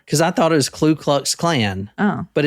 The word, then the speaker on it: Ku Klux: It's just nonsense syllables. Also, like, actually it's Ku Klux.